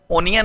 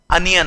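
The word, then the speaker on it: onion: कर दो ध्यान रखिएगा इसका उच्चारण अनियन नहीं है अनियन होता है छोटे-छोटे पीस में काट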